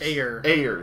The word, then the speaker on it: Ayer: Ayers. At least that's what I've heard it pronounced as, David Ayer. Ayer.